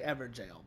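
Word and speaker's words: Evergaol: jail I'm going to start saying ever jail from what I can gather and from what people are telling me that is the correct way to say it not the terrible way I mispronounce it all right so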